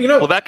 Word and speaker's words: Levesque: I've never heard anyone pronounce it Levesque, so I was confused for a second. But Levesque is what it is. Levesque is what he says it is on the conference call.